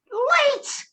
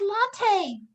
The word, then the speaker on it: latte: I said, late. She says, it's pronounced latte, but this is cappuccino.